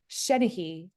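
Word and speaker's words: seanchaidh: And of course, that's a Gaelic word and it doesn't look like Shenahee.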